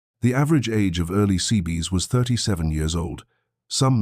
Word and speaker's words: Seabee: The construction battalion designation quickly became abbreviated as CB, which sailors phonetically rendered as Seabee.